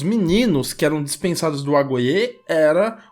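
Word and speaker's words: agoge: Esse programa de ensino, na qual eles saíam da casa dos pais, era conhecido como agoye. Se escreve A-G-O-G-E, né, em português, mas em grego a gente pode ler agoye.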